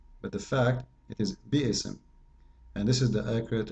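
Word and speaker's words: بسم: If you want to say the word correctly, it is bi-ism, not bism. Bism is very false Arabic.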